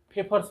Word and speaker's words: Pfeffer: the first method is paper's method this is pronunciated as paper Okay so a favor